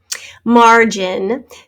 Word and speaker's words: margin: spelled with an e margin remember that our g sound the g makes the j sound in front of the letters e and i and y whoops going in